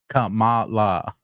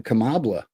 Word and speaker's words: Kamala: is also kind of the way when Trump pronounces her name Kamala oh he was calling her kambla uhhuh and the connected to the drops this